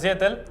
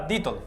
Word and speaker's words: Dietl: estamos aquí con nicolás he dicho antes dietl voy a decir ahora dito que es como se pronuncia exactamente porque es de origen austria austriacos y efectivamente y con